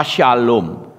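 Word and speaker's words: שלום: Shalom itu kan SLWM, S-nya bukan samek ya, tapi Shin. SLWM. Apakah kita SLWM? Kan tidak, saudara. Ya toh, Shalom. Nah toh, kok bisa Shalom? Bisa Salem toh? Bisa Salim toh? Bisa Shalom toh? Karena orang Ibrani ngerti nek SLWM kuwi mesti munine Shalom.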